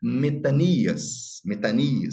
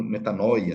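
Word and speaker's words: μετάνοια: Pregando baptisma metanias, né? Na pronúncia erasmiana, muito conhecido como metanoia, né?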